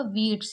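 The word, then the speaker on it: wheats: यहां पर याद रखिएगा डब्लू एच कहीं पर भी होगा और उसके बाद अगर ई होगा तो हम किसको नहीं पढ़ेंगे एच को नहीं पढ़ेंगे तो ये क्या होगा वीट्स यानी कि गेहूं राइस वही रूल्स है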